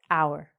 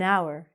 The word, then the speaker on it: hour: But because the H is silent, it makes a vowel sound. So, we have to be careful. An hour, an hour.